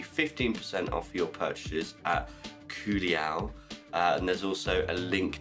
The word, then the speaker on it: Culiau: For the purposes of today's, I'm only using what has been sent to me by Culiau, which is how you say the company's name, Culiau. This is the Culiau Customizer.